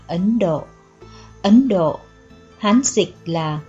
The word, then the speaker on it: Ấn Độ: bàn bạc khác biệt thời cổ gọi là thân độc hoặc gọi là hiền đậu nay theo theo Chánh âm nên đọc là ấn độ Ấn Độ Hán dịch